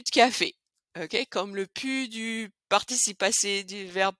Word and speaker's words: plus: Mais encore mieux, on va carrément pas prononcer le L.